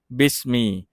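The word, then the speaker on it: بسم: ใช่ มั้ย ครับ มี ฉะนั้น ตัว หน้า บิส อ่า บิส แล้ว ก็ มี รวม กัน เป็น บิสมี ฉะนั้น คำ นี้ ทั้ง หมด นะ ครับ อ่าน รวม กัน ว่า บิสมี บิสม มา ดู คำ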